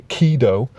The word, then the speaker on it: Ghidorah: this monster's name, and although it's pronounced Kido, which in English sounds like Kido, when you see it spelt, it almost does look like gonorrhea.